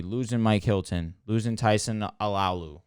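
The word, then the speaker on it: Alualu: I think asking them to be 3 with losing Bud Dupree, losing Mike Hilton, losing Tyson Alalu, right? That's how you pronounce his name.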